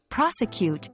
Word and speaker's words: prosecute: for non-native speakers pronouncing prosecute can be challenging focus on the stress on the first syllable p r o s